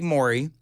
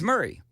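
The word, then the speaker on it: Maury: I've never understood um Murray County it's right it it looks like my it looks like myy but it's Murray my first week here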